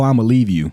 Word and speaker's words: Iamaleava: It's pronounced Nico, I'ma leave you.